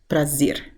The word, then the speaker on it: prazer: so they would say 'prazer.' which is not the case I'd say, in most of Brazil people would just use the 'h' sound, the *exhales* sound.